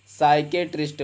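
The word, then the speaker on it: psychiatrist: होता है क्या है अगर एस से पहले पी ए जाए तो पी साइलेंट हो जाएगा आपने बहुत जगह देखा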